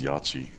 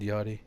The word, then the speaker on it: Yachty: pronounced that y'all do you thought it was Yoichi no it's it's spelled yah-tchi but it's said yardie oh man it's he was in it I